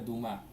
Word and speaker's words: Dumá: Se pronuncia Dumá.